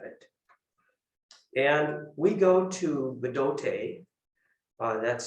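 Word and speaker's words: Bdote: And we go to Bidote, that's spelled B-D-O-T-E.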